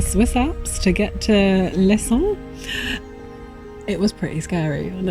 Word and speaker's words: Leysin: called Leysin, which we found on Which is pronounced how? Leysin, obviously.